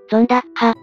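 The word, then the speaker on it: zondag: 日曜日を意味するゾンタク現代オランダ語での正確な発音はゾンダッハ語元説だ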